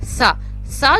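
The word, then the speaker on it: ث: दो ज़ेर फ दो पेश फ नेक्स्ट है सा जो है इसको जैसे कि हमने सीखा था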